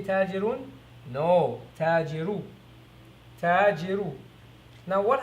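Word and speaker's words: التاجر: As you try to pronounce this, you will see that you're not supposed to pronounce the lam. The lam is not pronounced. The lam is not pronounced, and instead the ta takes a shadda.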